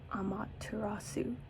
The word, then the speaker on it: Amaterasu: Basically, it's Amaterasu How do you pronounce this? Amaterasu the Japanese goddess.